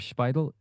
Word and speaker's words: Szpajdel: We are joined by Spidel. Am I pronouncing your name okay? Yes. Spidel.